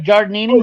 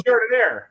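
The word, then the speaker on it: giardiniera: I have Giardinini. Oh, Giardinera.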